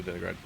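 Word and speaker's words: Deningrad: Okay, so we actually have to go to Denigrad.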